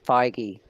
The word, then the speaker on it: Feige: feige Kevin feige um yes that's how you pronounce it's feige okay there you go